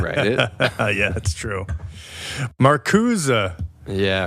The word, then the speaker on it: Marcuse: Every time you say Marcuse, I think J'accuse. Well, that's exactly it, I think. But anyway, it doesn't matter. Okay, yeah. It sounds French. That's why I say it like that.